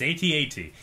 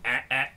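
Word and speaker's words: AT-AT: from the'80s had an at at toy and that's what you called it but that's not how you say it it's at8 you know there's a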